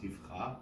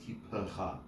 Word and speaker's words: tipcha: dagesh in the word to make it a p, not a f, so it's not tifcha, right? Yeah. Because there's a dot in it, the shva under it is pronounced, so it is officially tipcha, not tipcha.